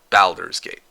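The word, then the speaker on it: Baldur's Gate: Balers Gate. Perfect. I've got the correct pronunciation. Balders's Gate.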